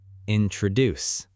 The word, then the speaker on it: introduce: The stress is on the last part. Introduce.